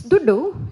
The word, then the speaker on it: Dhuddu: So he said, it's Duddu.